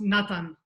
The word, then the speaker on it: Natan: It's pronounced Natan.